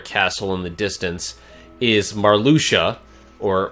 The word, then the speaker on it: Marluxia: us toward a castle in the distance is Marr Lucia or marluxia as I called him back in the day because that's how it should be pronounced but because you can pronounce X like